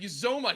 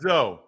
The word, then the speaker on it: Uzomah: As a matter of fact, Uzomah, he's putting a pronunciation for his name up this week. I'm trying to make sure I'm saying this right. Uzomah. Okay. Uzomah. Not Zoe. It's Uzomah.